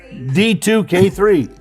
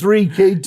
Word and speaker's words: D3K2: D2K3. No! It's D3K2.